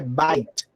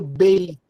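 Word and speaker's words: בית: A palavra casa em hebraico, não sei se você já comentamos aqui, ela é pronunciada, né, em hebraico é bait. Bait é casa. E quando eu quero dizer casa de alguém, eu falo beit.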